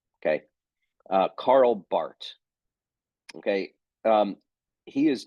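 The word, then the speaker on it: Barth: speak German uh Carl Bart is from the German speaking part of Switzerland so um that's why it's pronounced Bart and not bar okay uh Carl Bart okay um he is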